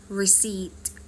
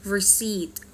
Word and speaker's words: receipt: เลย คำ แรก ค่ะ Rece ตัว P เรา ไม่ ออก เสียง นะ นะ คะ Rece นะ คะ ตัว อย่าง การ ใช้ เช่น don't forget your receipt Don't forget your receipt